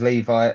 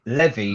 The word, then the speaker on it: Levy: the barometer changed because Levi Le Levy sorry I got called up on his pronunciation Levy sorry uh has changed